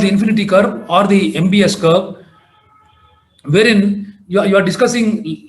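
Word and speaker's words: Möbius: So the new curve is what is called the MBS curve, a mathematical model described by AT-MBS. It's spelled as Mobius, but pronounced as MBS, wherein if you start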